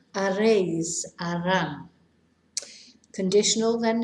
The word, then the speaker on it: haréis: Remember, we never pronounce the H. Haréis, harán.